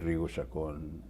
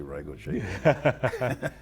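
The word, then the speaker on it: Rigo Chacón: Because I said Rigo Chacon, and I guess they wanted me to say Rigo Chacon. Yeah. I say it like I tell people I say it like my parents say it.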